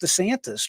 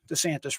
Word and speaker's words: DiSantis: Exclusive Biden administration planted operative, and here is the individual's name, Jeff, and I believe it's pronounced DiSantis, just like Governor DeSantis.